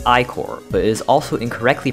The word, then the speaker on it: Ichor: Ichor is pronounced Icor, but it is also incorrectly pronounced Ichor by many, including me when I first played the game.